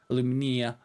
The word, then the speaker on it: alumina: And yes, I will pronounce that the American way, because there is an alumina.